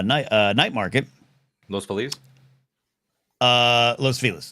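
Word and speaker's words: Los Feliz: Los Pheliz uh Los Felis. That's how you say it. That's the guy's name that was named after. Just so we all know that's actually the history. It's not Los Felis like you say Los Felis.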